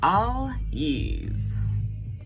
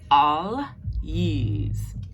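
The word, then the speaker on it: Algiz: Our next one is All Yees. All Yees. And yees like a Y, like yees.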